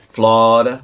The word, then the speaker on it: Florida: know you'll nail Florida Florida's an exception they sort of a lead over the whole middle bit it goes flawed where you from Florida